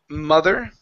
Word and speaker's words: mother: go to the word mother right here instead of ma mother it's a ma mother mother good her mother is looking